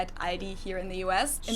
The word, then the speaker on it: Aldi: Or they also sometimes add an S that isn't there in the end and say Aldis. In Germany, we just say Aldi.